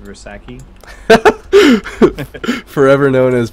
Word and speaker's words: Versace: It's pronounced Versace. Forever known as Bersaki.